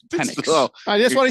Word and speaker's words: Penix: I've never mispronounced Michael Penis Jr. Never. Once. I think it's Penix.